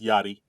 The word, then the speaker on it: Yachty: It's I'm I'm hip enough to know it's called It's Yachty.